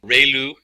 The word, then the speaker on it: ReLU: function we have the relu it's pronounced like re the from the sun and liu like a name so relu function and